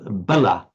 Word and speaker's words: bala: difference between words like, sometimes it's just vowel length makes the entire difference. We have bala, meaning strength or power. Yes. And bala, which means a child or a childish person, a fool.